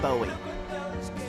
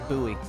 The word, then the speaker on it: Bowie: This is an artist and me and you pronounce their name differently. It's David Bowie. Oh, David Bowie. David Bowie. 1971. What do I say? David Bowie. You say Buoie. Oh, David Buoie. Yeah. Um, which I looked it up. You can pronounce it both ways.